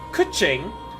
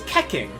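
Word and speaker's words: Keqing: So when I found the character named Kuching, who whose name was spelled K E Q uh K E Q I N G, I thought it was KKing, you know, like Kek because I've only ever heard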